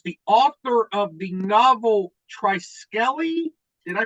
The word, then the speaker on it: Triskele: author of the novel tricell did I pronounce the name novel correctly trical the final e is silent trical trical U Dr damato welcome